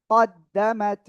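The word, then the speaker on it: قَدَّمَتْ: কফ দাল জবর কদ, দাল জবর দা, কদ দা, মিম তা জবর মাত, কদ্দামাত, কদ্দামাত, কদ্দামাত, ঠিক আছে?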